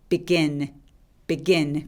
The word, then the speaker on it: begin: begin 강세가 이음절에 옵니다.